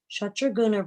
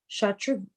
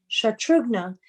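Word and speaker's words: Shatrughna: After passing 2 nights on the way, Shatruguna reached the ashram of Valmiki during the 3rd day. Shatrugna, oh gosh, I've been saying it wrong, reached the ashram of Valmiki during the 3rd day. Shatrugna explained to Valmiki how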